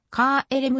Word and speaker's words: KLM: のケール m のオランダ語での発音はカエル m カーエレムに近い品コーデは以下